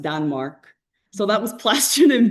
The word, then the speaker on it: Danmark: Denmark in Danish is pronounced Danmark.